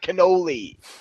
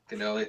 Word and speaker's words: Connole: You got to pronounce it right, Connole. Cannoli.